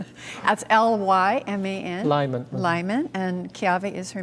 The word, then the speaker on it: Lyman: it's paul maikai ke ave lyman that's l-y-m-a-n lyman and keave is her maiden name um